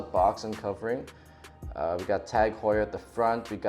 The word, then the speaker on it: TAG Heuer: All of that is provided by TAG Heuer. So, really cool brand. Took me a while to figure out how to pronounce this name. I thought it was Tag Hair, but it's actually Tag Heuer.